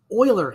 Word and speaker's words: Euler: a difference in angles euler angles that word e-u-l-e-r is pronounced euler euler angles are what